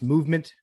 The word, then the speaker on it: MVMT: MVMT pronounced movement grew into one of the fastest growing watch brands shipping to over 160 countries across the globe.